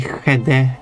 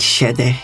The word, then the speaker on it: skede: It makes the shade. If it's a back vowel, it's like it's skade. It's Bloody. yeah, it's the Swedish thing again. And shade would of course be to Finland pronunciation and parts of Sweden, while I would say skede as central eastern Swedish pronunciation. But you can go with shede instead of skede.